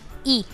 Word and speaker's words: y: And it is a very simple pronunciation for and, where a single syllable, that is E. Pronunciation of this Y is E.